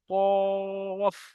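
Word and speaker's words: ق: কফ এটাকে বড় কফ বলা হয়। মোটা করে উচ্চারণ করতে হয়। কফ।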